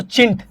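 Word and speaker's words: chintz: हिंदी में बोले तो चिंट। चिंट। ठीक है? चिंट कहा जाता है। छिंट आप पढ़ सकते हैं इसको। यहां हिंदी में छिंट लिखा हुआ है। वैसे चिंट इंग्लिश में प्रोनाउंस किया जाता है।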